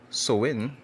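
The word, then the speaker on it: Samhain: In modern times, it's a Samha, a Gaelic, right, word pronounced Sowin, is usually celebrated from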